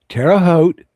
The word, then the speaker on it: Terraote: On the way into, wait for it, Terraote. rhymes with boat.